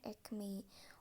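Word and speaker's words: ekmeği: dengan ketemu dengan vokal, akan berubah huruf K-nya melebur menjadi yumusyak G. Jadi dibacanya ekmei.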